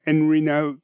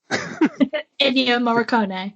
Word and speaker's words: Ennio Morricone: Enrino, the name you just said. Ennio Morricone.